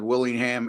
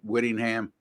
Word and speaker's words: Whittingham: you guys jump all over me as said Willingham it's w Whittingham as is Jesse corrected me not corrected me but he pronounced it correctly so uh uh there's that